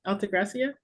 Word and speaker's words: Altagracia: Okay, Altagracia. Did I say it right? Yes, you did.